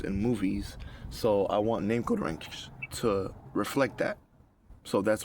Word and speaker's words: Namqodranx: Now I'm going to move forward with the name code ranks or name code rank, right? It's spelled N A M like a name. What's your name? Code Q O D Ranks or Ranks.